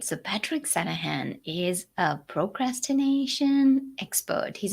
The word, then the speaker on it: Sanaghan: yeah thanks for asking the g is silent it's called santa han all right so patrick sanahan is a procrastination expert